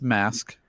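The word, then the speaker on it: MVSK: is a bside from their debut uh it's pronounced mask yes I figured yeah and this is a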